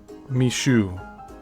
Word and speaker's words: Micheaux: The most significant and durable filmmaker to emerge from the race film boom was Chicago based Oscar Mishu and that's spelled m i c h e aux.